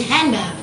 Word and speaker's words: handgun: not pronounced for example most american english speakers do not pronounce the d in handgun so the d they